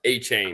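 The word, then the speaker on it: Etienne: I I think aren't you're thinking of Travis ETN who told us his name is pronounced a chain.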